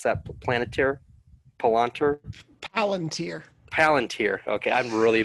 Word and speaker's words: Palantir: How do you pronounce that? Palantir?